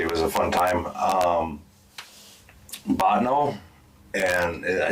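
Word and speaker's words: Bottineau: Botno, and I say it right.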